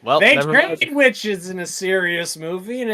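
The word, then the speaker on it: The VVitch: witches in a serious movie, and it never works Which out. one? The Vavitch.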